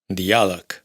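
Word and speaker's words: diàleg: árab árabe d se pronuncia como t fred frío y por supuesto la famosa Madrid Madrid G se pronuncia como c dialog diálogo.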